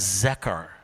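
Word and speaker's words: זכר: But in the Hebrew it's a verb that we would pronounce as zechar.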